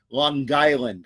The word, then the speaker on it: Long Island: Let me say it correctly. Long Island, because my dad was from Long Island as well.